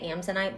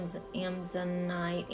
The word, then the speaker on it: amazonite: throat um turquoise and I always say it wrong I want to say amsanite but that's not right it's like Amazonian I am amazonite Amazonian night oh but